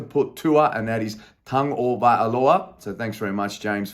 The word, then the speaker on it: Tagovailoa: For all those keeping up last week in my fantasy team, I had to put Tua, and that is Tagovailoa. So thanks very much, James, for the pronunciation there.